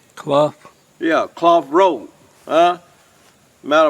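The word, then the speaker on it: Clough: town of claw cuz this is U I'm pronouncing that right c l o u g h cloth yeah cloth Road huh matter of fact if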